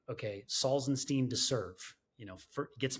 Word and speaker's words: Salzenstein: think I have a beautiful last name it's salzenstein and I always joke because I get introduced